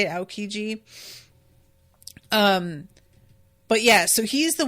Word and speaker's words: Aokiji: That's how you say it, Aokiji.